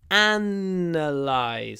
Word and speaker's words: analyze: data so Paro which the verb to analyze stress on the first syllable and sometimes in fact quite often a linking W appears between to and analyze to analyze to to to analyze